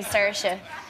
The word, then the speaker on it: Saoirse: actually pronounce my name the correct way I I say sersa but a lot of